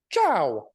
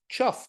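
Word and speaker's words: chough: of course they go now what's that like chow chow um the more pedantic amongst you like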